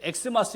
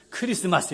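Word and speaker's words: Xmas: 그러니까 크리스마스 또는 저렇게 엑스마스 쓰기도 하는데, 엑스마스 이렇게 읽으면 안 되고 우리는 어떻게 읽어야 돼요? 크리스마스 이렇게 읽어야 되는 거예요.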